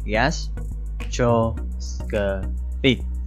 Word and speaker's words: gastroscopy: đó là từ gastroscopy, có bốn âm tiết gastroscopy.